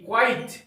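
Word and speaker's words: quite: यह होता है क्यू यू आई टी ई क्वाइट क्वाइट का अर्थ होता है बिल्कुल और य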